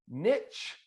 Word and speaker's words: niche: people call that like what do we call it here in america a niche niche like a witch oh in la in the uk niches rhyme with riches this is how you remember it that's not how they say it in the uk what they say in the uk is carl here's how you remember it nitch witch niche quiche so the point